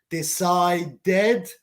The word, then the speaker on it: decided: With the letters D and T before ED, TED or DED, we pronounce ed. Decided, because it's DED, or excited, TED.